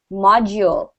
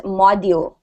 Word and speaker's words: module: module modu module exactly we don't say the D as du it's like a it's like a softer G sound okay it's like